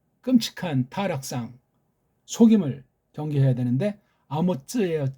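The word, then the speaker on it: אָמוֹץ: 쪽발이 엉터리 그 소리를 쪽발이를 내서서 서구가 만드는 엉터리 글자 한글로다가 번역한 끔찍한 타락상 속임을 경계해야 되는데 아모츠예요. 쯔. 아모츠라고 이거 짜데이를 츠라고 읽는 사람은 이건 잘못 배운 거예요.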